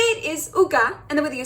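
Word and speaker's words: עוגה: It's the word for cake, and the way that you say it is uga, and the way that you spell it is ein vav gimel he.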